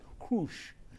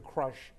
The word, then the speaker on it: Krush: And actually, she was born in Ukraine, and actually, her name actually should be properly pronounced Krush, but it's been Americanized to Crush because she loves crushing opponents.